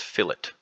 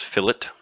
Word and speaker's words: fillet: printing because it's called I know it looks like filet but it's pronounced fillet oh I hate this grammarly thing hold on let me get out of that okay we pronounce it as fillet and I think that's